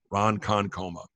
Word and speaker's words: Ronkonkoma: I'm Lee ro and Kon koma you know Ron Conn coma that you goo bachelor GUI patch a gooey